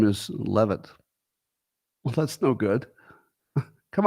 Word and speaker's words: Leavitt: Leavitt or Levitt? Because this will matter to the joke I'm about to make. I'm preparing a dad joke in my mind. It's very amusing, but it will depend on you telling me which way to pronounce her name. Because one way, oh, damn it, some people are saying it's Levitt. Damn it.